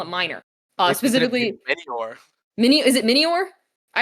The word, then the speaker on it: Minior: I always pronounce this Pokemon as minor, but I don't think that's how you pronounce it. We're going to call it minor. Uh, specifically Minior.